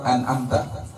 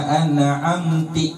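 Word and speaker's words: أَنْعَمْتَ: Kakasri ta'in, seperti mengkasrahkan huruf ta, an'amta pada lafaz an'amta. Siratal ladzina an'amti alaihim, siratal ladzina an'amti alaihim, jalan orang-orang yang telah engkau anugerahi kenikmatan.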